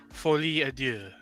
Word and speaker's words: Folie à Deux: That's Joker Folie à Deux, which translates to Madness of Two.